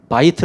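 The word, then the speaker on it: בית: 뜻이 뭐냐 몰래 집은 바이트 라고 하는데 히브리어로 바이트 라고 하는데 이것이 모음을 만나면 베이트 라고 발음이 되어 메이트 그리곤 에헴 이라는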